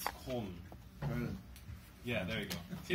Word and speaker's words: Köln: It's pronounced Köln, but I can never say it right because it's, like, a weird sound, but it's Köln.